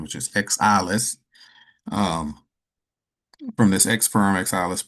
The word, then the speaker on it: XAILES: But for those that are interested in actually benefiting from the XAILES, which is the actual proper pronunciation, which is XAILES, um, from this XFERME XAILES platform, then I